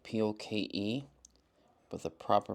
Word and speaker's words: poke: that right there is called a poke ball it's spelled p o k e but the proper pronunciation is poke and usually